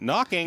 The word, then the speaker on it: knocking: And it ends with someone knocking. Yes, that's almost alliteration, but the K is silent in the other, and it's also not a C, so, you know.